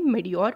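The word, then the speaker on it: mediocre: ठीक है, मेडियोर में जो सी है वो साइलेंट है, तो इसको आप पढ़ेंगे मेडियोर पढ़ेंगे, ये इसका मतलब होता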